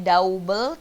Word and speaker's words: double: Bukannya double, tapi double. Bukannya trouble, tapinya trouble.